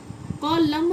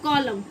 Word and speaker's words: column: होता है, ये होता है कॉलम, कॉलम नहीं, एन का आपको वॉइस नहीं आएगा, ये है कॉलम।